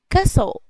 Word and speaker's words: castle: Castle. لأنك لاحظتم ما ننطقوش التي. اوكي نقولوا castle اللي هو القصر.